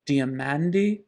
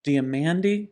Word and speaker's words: Diamandis: as well isn't it my surname in Greek is diamanti which means diamonds diamandi diamandi this is just like when